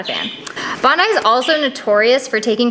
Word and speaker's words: Bondi: Her name is Bondi. That's how it's pronounced. It's after Bondi Beach in Australia.